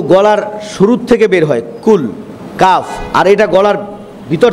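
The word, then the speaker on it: قل: তাহলে আমরা পড়ি কুল, কুল বড় কাফ, মনে থাকবে?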